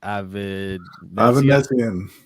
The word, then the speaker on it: Avanesyan: Avanesyan.